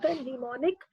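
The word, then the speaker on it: mnemonic: machine language it uses short pneumonic codes M silent pronunciation neonic codes for instructions and allows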